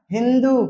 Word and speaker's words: हिंदू: फारसी लोग सिंधु को उच्चारण में क्या हिंदू कहते थे।